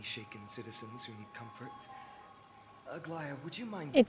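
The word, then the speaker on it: Aglaea: Aglia, would you mind? Aia, that's how you say it.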